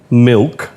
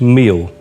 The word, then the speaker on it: milk: They can conjugate a verb, they know grammar, but ask them to take something like milk, and it's meal. Ask them to say school, it's sakoon.